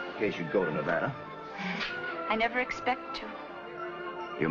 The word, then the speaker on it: Nevada: a dreadful flat a only the Dreadful flat a is correct among the natives perhaps I just thought you might like to know in case you'd go to Nevada I never expect to